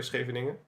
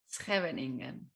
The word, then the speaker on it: Scheveningen: And if you couldn't pronounce it like correctly, it's a place in the Netherlands, by the way, Scheveningen. If you don't know how to pronounce it correctly, you would be a spy and you would be executed.